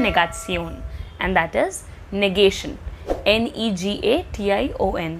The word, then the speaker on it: Negation: Negation. The spelling is same in English as well as in German, but the pronunciation is a bit different.